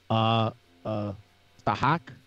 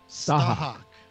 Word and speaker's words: Tahak: Tahak? Tahak? Am I saying that right, Admiral? No. Tahak. Yeah, and I'm going to have to change the spelling because I mispronounced it.